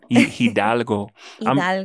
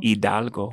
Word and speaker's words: Hidalgo: Hidalgo. Hidalgo.